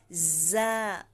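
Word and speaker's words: ز: ko ha dalal za za Okay za ang consonant letter dito ay Z letter z ang Z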